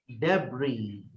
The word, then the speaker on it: debris: Debris. Debris. लेकिन सर डेब्रिस लिखा है, वो तो अभी आपने उसके सिंबल्स को नहीं पढ़ा ना, आपने उसके तलफ्फुज को सुना ही नहीं।